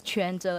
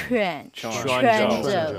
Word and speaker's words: Quanzhou: our audience, visitors to Quanzhou, please remember this is Quanzhou and pronounce Q as CH. Chuan. Quanzhou.